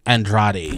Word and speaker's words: Andrade: Jessica and Andrade. Thank you. I can never pronounce that. I look at the word and I can never remember how to pronounce it. Jessica Andrade.